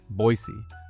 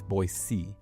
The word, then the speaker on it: Boise: pronounce Cuna cordelan and boisey so even I say it wrong sometimes it's not Boise it's boc next is healthc care